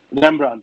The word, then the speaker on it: Rembrandt: How do you pronounce Rembrandt. His name? Rembrandt. Rembrandt.